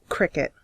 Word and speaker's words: Criquette: This page is for a creator called Cricket. Cricket is spelled C-R-I-Q-U-E-T-T-E, just over here.